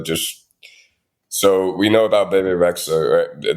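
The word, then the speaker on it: Bebe Rexha: so we know about bab rexa that's how you pronounce her name b rex B BB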